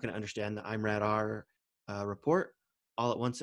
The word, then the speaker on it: IMRAD: help understand what the imrad is but it's an acronym it's pronounced i'm rad or i pronounce it i'm rad a lot of people pronounce it mrad doesn't matter uh stands